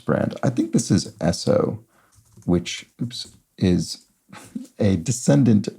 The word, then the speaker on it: Esso: I think this is Esso which oops is a descendant brand of Standard Oil named for the phonetic pronunciation of its initials so University and official